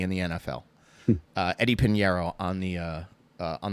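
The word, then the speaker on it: Piñeiro: My guy that I would draft off of this team is their kicker Eddie Panero. Eddie Pinero, I should say, mispronounced that.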